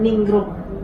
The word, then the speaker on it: Ningrum: Nama saya itu 3 suku kata Pak. Iya. Ningrum.